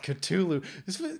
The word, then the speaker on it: Ktulu: the best metallica song call of cthulhu i don't like saying it that way but that's how it's spelled ctulu can we just say hey